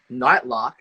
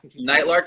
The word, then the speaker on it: Nightlark: uh called night night hopefully i pronounce this right nightlock um nightlark is original and uh it's it's